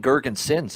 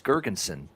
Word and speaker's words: Girgensons: It's not even Girgensons. It's Girgensson. And with the last S is silent.